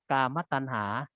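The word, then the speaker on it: กามตัณหา: แก่ 1 กามะ ตัณหา อัน นี้ อ่าน ว่า กามะ ตัณหา มี ความ อยาก ได้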